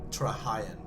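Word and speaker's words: Trahaearn: my duty as a question master is to pronounce it correctly. Yes. So in Prifdinus, what are the Trahayan clan known for? Trahayan.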